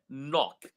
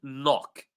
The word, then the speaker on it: knock: So Soljin says K is nothing is not pronounced and you are correct.